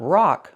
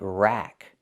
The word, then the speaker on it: rack: Use the short a sound like black cat. Not rock like rock and roll, but rack.